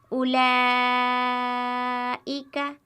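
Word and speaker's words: أُولَٰئِكَ: کھینچ کر پڑھیں گے، اس طرح اولئک اولئک، اور ہجے اس کے اس طرح کریں گے، حمزہ و پیش او، لام کھڑا مد زبر لا، اولا، حمزہ زیر ای، اولائی، کاف زبر کا، اولئک اولئک۔ اسی طرح یہاں پر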